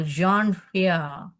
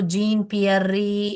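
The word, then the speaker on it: Jean-Pierre: प्यार ऐसे पढ़ने का क्योंकि फ्रेंच नाम ऐसे होता है ना जॉन जॉन बोलते हैं वो लोग जॉन पियर जॉन पियर जॉन पियर हरिजन ऐसे इनका नाम प्रोनाउंस करने का है इसको जीन पियररी ऐसे नहीं पढ़ने का ये इ जो है साइलेंट है यहां पर तो कल्पना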